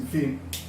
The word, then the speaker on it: Φ: Φ, a pronúncia é assim, Φ.